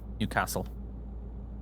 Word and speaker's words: Newcastle: Newcastle. With the emphasis on castle and not new.